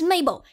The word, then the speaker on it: Mabel: in the whole world my name is Mabel it rhymes with table it also rhymes with label it also rhymes with